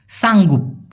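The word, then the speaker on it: sanggup: সঠিক উচ্চারণটা সয়ে হয়। কারণ এস এর উচ্চারণ স এর মত হবে। সাঙ্গুপ। সাঙ্গু। এই সাঙ্গুপ শব্দের মানে হচ্ছে কষ্ট হলেও করতে রাজি থাকা।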